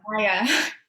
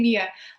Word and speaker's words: Maya: Maya, because I'm so used to saying Mia.